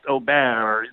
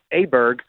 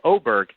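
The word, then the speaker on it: Åberg: Oberg, his name is, I guess, in Sweden, really pronounced Oberg. There's some weird sound you make at the end of the name.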